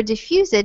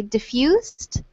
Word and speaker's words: diffused: These both have a silent E here. So instead of saying increased or diffused, we would just say diffused and increased.